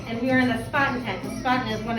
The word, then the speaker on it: Spaten: And if you're really being authentic and you want to be really cool, then you can say it like the Germans do. They say Spaten.